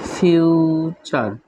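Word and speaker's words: future: লেকচার lake চার দেন ফিউচার ফিউচার actually ফিউচার নট ফিউচার ফিউচার নয় এটা আসলে ফিউচার টি আছে টি এর পর ইউ থাকলে উচ্চারণটা কি হবে ফিউচার হয়ে যাবে এগেইন ফিউচার এফ ই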